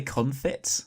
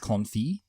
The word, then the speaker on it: confit: I think it's called a confit. Yeah, but I think it's pronounced confit. I think it's confit as well, so you don't pronounce the T at the end.